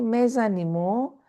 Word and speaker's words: mes animaux: You remember, les, we write les, but the next word starts with a vowel, so we pronounce Z. Do you remember? Les Yes, amis, mes animaux, des jours sont impressionnants.